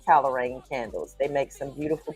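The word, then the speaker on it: Calerain: So like Kale Rain. C A L E R A I N. So um but it's it's pronounced calorain candles.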